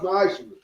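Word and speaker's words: מעשר: It's 10th in Hebrew, and it's pronounced ma'ashra.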